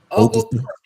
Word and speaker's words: Oglethorpe: Oglethorpe. Okay. The T is silent. Got you. Nah, Thor. Like Thor.